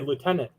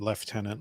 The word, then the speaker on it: lieutenant: people do I say Lieutenant you say well Lieutenant leftenant leftenant is technically the correct British front lines yes they